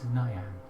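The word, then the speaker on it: Niyan: My name is Nyan. Nyan. Nyan. I know, sounds unusual. It's spelled N-I-Y-A-N. N-I. N-I-Y-A-N. So not Nyan.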